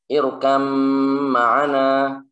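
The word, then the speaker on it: ارْكَبْ مَعَنَا: Dalam contoh irkab ma'ana. Irkab ma'ana. Maka di sini ba-nya tidak dianggap. Sudah seakan-akan tidak ada, langsung masuk ke huruf mim. Jadi bacanya adalah irkam ma'ana.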